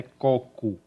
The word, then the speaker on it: coco: ela é chamada de coco cuidado com a pronúncia a pronúncia correta é côco então ó forma esférica